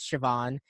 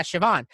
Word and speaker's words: Siobhan: someone my name is siobhan it's not spelt siobhan yeah here like that's not how it doesn't sound like how it's spelt but oh yeah siobhan and then but you